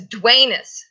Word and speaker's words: Dwaynus: But anyway, so Dirk's nickname for Dwayne, it was Dwaynus, which rhymes with anus.